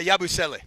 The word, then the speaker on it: Yabusele: I don't know how to pronounce his name, like Yabusele or something like that? Guerschon Yabusele? Yeah, Yabusele.